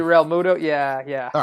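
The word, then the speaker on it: Realmuto: Is it Real Muto? How the hell do you pronounce this guy's last name? JT Real Muto?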